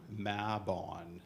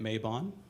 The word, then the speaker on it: Mabon: a map on celebration mabon that's the Welsh pronunciation I've been saying it mabon it is mab on so if you